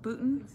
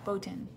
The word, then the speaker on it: Boutin: right i think so putin putin boaten no boten boten boten i literally just went onto